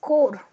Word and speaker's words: Corps: It's pronounced as core.